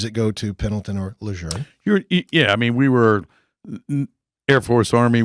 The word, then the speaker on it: Lejeune: That was so precisely pronounced, Lejeune.